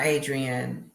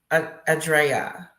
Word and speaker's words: Adrea: It's not Adrian. It's Adrea.